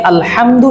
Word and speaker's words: الحمد: এখানে আলহামদু শব্দটা উচ্চারণ করার ক্ষেত্রে হাহুত্তি এর জায়গাটায় সাধারণত আমরা হাই হাওয়া যেটা আছে এই হরফটা উচ্চারণ করে থাকি।